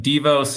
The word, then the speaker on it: Devos: So the dev kind of makes sense, but Devos is how we like to pronounce it.